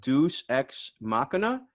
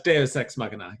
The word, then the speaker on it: deus ex machina: you um you have deuce ex machina short circuit is that am i saying it correctly uh it's deus ex machina yes okay excellent um so